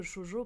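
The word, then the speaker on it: shōjo: Alors en fait, je t'explique, Alvin, Chojo, ça s'écrit S H O J O.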